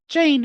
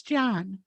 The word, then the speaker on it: Jan: It's not Jane, it's John.